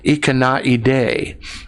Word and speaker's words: Ikanaide: looks like Dimash has given me the correct pronunciation Ikanaide is what he's singing so thank you Dimash